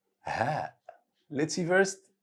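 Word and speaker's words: هاء: Ha. Ha. Let's see first how to write it. Just draw a small circle on top of the line. Easy. It's pronounced just like the English letter H.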